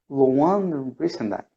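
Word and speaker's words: Louann Brizendine: femenino de Loan Brizendine, no sé cómo se pronuncia eso. Luan Brizendine.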